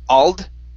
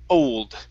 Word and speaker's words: old: here is the word old instead of Al okay it's o old old good good all